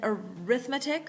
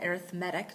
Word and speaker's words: arithmetic: There's an arithmetic sequence or it's called arithmetic depending on how you pronounce it.